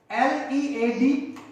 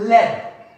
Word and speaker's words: lead: For example, L-E-A-D, lead. Lead means to whom we follow, and the second one is led. Spelling same, but the pronunciation is different.